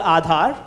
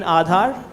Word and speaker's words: Aadhaar: It's called Aadhaar. Aadhaar. So till about, Can you spell that acronym?